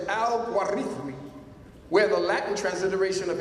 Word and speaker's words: al-Khwarizmi: The word al-Khwarizmi, transliterated al-Gorithmi or al-Gwarizin, pronounced in the classical Arabic as al-Gwarithmi, where the Latin transliteration of his name, algorithm, is derived, hence algorithm.